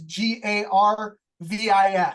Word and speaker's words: Garvis: It's just Jarvis, and it's Garvis. So soft G. Sounds like J, it's a G.